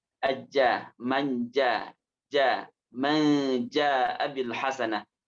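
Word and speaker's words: ج: saja bajja ja ajja ingat Jim itu pengucapannya bukan Za tapi aja manja ja Man Abil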